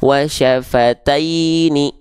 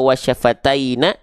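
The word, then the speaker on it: وَشَفَتَيْنِ: bacanya seperti ini basicnya wasyafataini wasyafataini wasyafataini paham enggak dibaca wasyafataina wasyafatainu enggak tapi taini paham ya jelas ya oke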